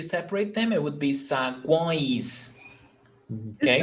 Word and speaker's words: saguões: Because if you separate them, it would be saguões. Okay? It sounds like it almost has like an N in there. Sagoins. It's because it's nasal. Oins. Sagoins. Saguões. It's nasal sound.